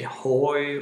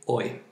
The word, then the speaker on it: hoy: english speakers sometimes say hoy or something like that hoy try to just say oy as just move the h after the o and like o and then the the pronounce the y oy that's easier to remember